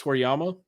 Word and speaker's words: Toriyama: I think it's Toriyama.